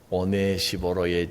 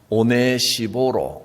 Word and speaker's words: 오네시보로: 이름이 오네시보로, 어디서 좀 들어본 이름인 것 같습니다. 발음이 오네시모하고 비슷합니다.